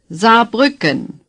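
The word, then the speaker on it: Saarbrücken: in the West is za Buchan say za Buchan you notice that the S at the beginning is pronounced like our z as in zipper za say za nothing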